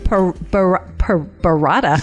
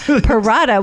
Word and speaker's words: Perrotta: Today we have Vince Perrotta. Perrotta, what the heck? It rhymes with a mozzarella.